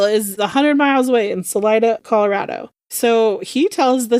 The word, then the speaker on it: Salida: And wouldn't you know, a hundred miles away from Colorado Springs in a town called Salita, I believe, is how it's pronounced. I don't know if I'm saying it wrong. Salida.